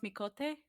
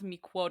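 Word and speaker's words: Miqo'te: It's pronounced Mikote? Mikote, I'm sorry. Okay, I thought it was pronounced Miquote. Mikote! Mikote! I don't know the sound that Q makes!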